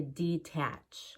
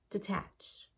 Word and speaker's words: detach: detach I wouldn't say detach I mean if you do sometimes it's fine but you want to get used to reducing that first syllable to have better Rhythm detach he has a detached